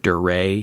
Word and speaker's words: Duret: special name for it deray hemorrhage it looks like it's spelled duret capital d-u-r-e-t deray hemorrhage and it's named